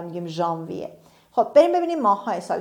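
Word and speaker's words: janvier: انگلیسی ها میگن جانیوری ولی فرانسوی ها دقیقا میگن ژانویه و ما این رو از فرانسه گرفتیم و میگیم ژانویه.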